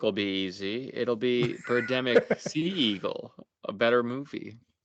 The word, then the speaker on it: Birdemic: As much as we've enjoyed the Birdemic trilogy, that's how you say it.